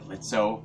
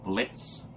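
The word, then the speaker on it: Blitzø: room as moxie and plutzo and not so the o is silent the same room as moxie blitz okay and then there's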